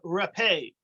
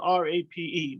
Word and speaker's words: rapé: So al-salim is a form of rapé, which is another type of spice, a bitter spice. It's actually spelled R-A-P-E, which is a tricky word to pronounce because it's not rape, it's rapé.